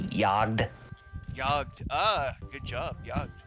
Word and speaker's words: Jagd: think they realize that the name is actually German. So you have to say it like they do. They say Jagd.